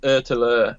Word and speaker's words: ÖtillÖ: ÖtillÖ, is that how you pronounce it? Yeah, so it's ÖtillÖ, which is island to island in Swedish.